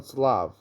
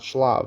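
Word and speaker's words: שלו: Ksiv Slav, a Korean Slav. It's written Slav, but you pronounce it with a samich, not with a shin, not shlav.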